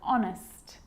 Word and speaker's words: honest: why and whistle and sometimes it's not pronounced at the start of a word like honest and our and sometimes the